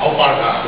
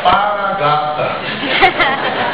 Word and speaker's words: alpargata: Alpargata. Vamos levanta quem conheceu a alpargata. Ei, companheira. Conheceu porque usou. A gente era tão pobre que a pronúncia não era alpargata, era paragata.